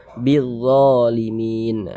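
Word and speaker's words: بالظالمين: Sehingga huruf lamnya ini dia dibaca idgham, huruf lamnya ini. Dari bi langsung masuk ke huruf dha. Bizzalimin. Dha dibaca panjang ya.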